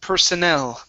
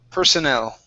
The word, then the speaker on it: personnel: This word here, okay, this word is pronounced personnel. The stress is at the very end. Personnel.